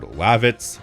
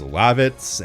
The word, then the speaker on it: Lavitz: I've heard Lavitz, Levitz. Nobody can agree. I think the general consensus is Lavitz and my Google speechtoext function agrees because Lavitz is the pronunciation that it recognizes.